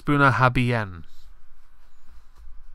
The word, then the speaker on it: Bunnahabhain: but a lot of my friends that drank that would be like, it's Bunnahabhain.